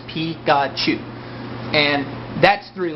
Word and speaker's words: Pikachu: the Pokemon series Pikachu Pikachu is actually how you say Pikachu's name in Japanese P God chew and that's three letters